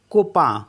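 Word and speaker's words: copain: tomorrow and सी ओ पी ए आई एन कोपा कोपा मीस होता है friend ऐसे है आई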